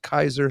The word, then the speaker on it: Caesar: About 15 generations later, you get to the time of Caesar, which is actually pronounced Kaiser.